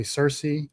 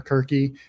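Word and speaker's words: Circe: They got a white woman to play Cersei or Kirky, depending on which language you're pronouncing it in.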